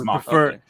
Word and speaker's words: Makini: Because it was such a weeb at the time that, of course, the name Makini is actually it's actually how my surname is pronounced in Japanese. It's Makini. I would prefer.